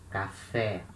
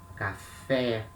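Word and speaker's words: café: are gonna see that the accents in portuguese they are used to mark the strongest syllable like here can fair and they also sometimes they can they can also mark the sound the vowel will make like this we say cafe because letter e has the acute accent when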